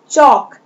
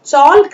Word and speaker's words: chalk: Then चॉक, CHALK, L is silent here, इसे हम चॉल्क नहीं पढ़ेंगे बल्कि हम इसे चॉक पढ़ेंगे, चॉक।